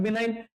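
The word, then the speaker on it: benign: बेनफक्टर बेनफेक्टर बिनाइन बिनाइन इसमें जी silent होता है बिनाइन ये सब क्या होता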